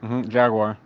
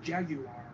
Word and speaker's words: Jaguar: Jaguar. That's wrong. It's pronounced Jaguar.